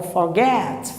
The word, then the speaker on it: forget: uma dificuldade muito grande, porque quer colocar na sílaba uma força que a sílaba não tem. O schwa é fraco, tá? Então, ó, forget, forget, perhaps, perhaps. Deixa o forte lá para o final e ele é bem devagar.